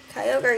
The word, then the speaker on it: Kyogre: Kyogre, yep.